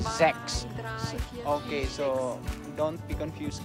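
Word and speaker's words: sechs: no just say that in german we have to pronounce the number six is sex okay so don't be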